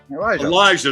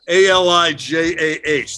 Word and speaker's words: Alijah: And I, in my intense study of him, I did not get a correct pronunciation of his first name. Elijah, there you go. Alijah.